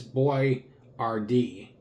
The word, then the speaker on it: Boyardee: He decided to phonetically spell his name as Boy-Ar-Dee, b o y {hyphen} a r {hyphen} d e e, to help Americans pronounce his name correctly.